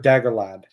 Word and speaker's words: Dagorlad: So you have Dagorlad, which rhymes with Daggoroth. Yeah. Yeah, they rhyme.